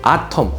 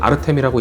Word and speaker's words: Artem: 아텀 혹은 아르템이라고 읽는데 저는 글자수 절약을 위해서 아텀이라고 읽겠습니다 라고 말하는 순간 이미 너무 많은 글자수를 낭비해버렸지만 지금부터라도 절약하기 위해 아텀이라고 해야겠죠.